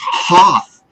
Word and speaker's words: Hearth: My name is not Gareth, it's Hearth.